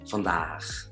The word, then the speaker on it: vandaag: Se dan cuenta que no es la misma A, no es A, es O-A, O-A, vandaag, vandaag, ¿ya?